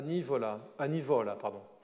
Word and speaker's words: Nivola: Et c'est cette figure qu'il évoque dans une lettre à Nivola, accent tonique sur la pénultième.